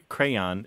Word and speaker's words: crayon: Well, we have in American English 4 or 5 different pronunciations of the word crayon. We do indeed. Yeah, and it's super interesting. Crayon is the most common one.